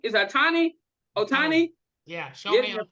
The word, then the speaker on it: Ohtani: Is it, how do you pronounce that? Otari? Atani is Atani Otani Yeah, getting Shohei a Ohtani.